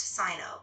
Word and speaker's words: Sino: It's pronounced Sino, like Sino-Japanese.